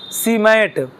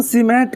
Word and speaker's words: SIEMAT: अंतिम एक संस्था लिखेंगे हम लोग, सीमेंट। सीमेंट नहीं, मिटा दूं ना? नहीं लिखा है नीचे? इसका प्रोनाउंसिएशन सीमेंट कहते हैं, जबकि उसका भी फुल फॉर्म होता है। SIEMAT, SIEMAT, सीमेट। इसका प्रोनाउंसिएशन जो होगा सीमेट।